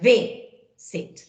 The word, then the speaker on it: visit: En el caso de visit, no se dobla porque el acento está en la primera sílaba, en visit.